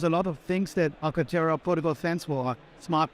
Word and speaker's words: Arcartera: When we talk about Arcartera, am I pronouncing that right? Absolutely, yeah. Arcartera.